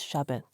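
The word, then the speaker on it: Shabd: The A at the end of Shabbat is silent. It is pronounced as Shabbat.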